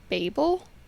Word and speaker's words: Babel: She was like people in the UK are more like they're more likely to say Babel and then the US is more likely to say Babel. I think I say Babel. I say babel. Like I didn't know but like it is babe L. So, I don't know why I say babble.